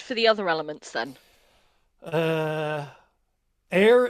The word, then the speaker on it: aer: Air is air, but it's spelled AER, as in Aer Lingus.